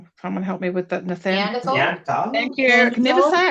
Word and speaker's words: Neanderthal: understanding of, and I never say it right, Nathaniel. Someone help me with that, Neanderthal.